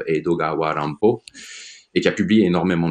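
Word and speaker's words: 江戸川乱歩: qui est un peu un anagramme d'Edgar Allan Poe qui se prononce Edogawa Rampo et qui a publié énormément de choses en termes de romans détectives, romans policiers.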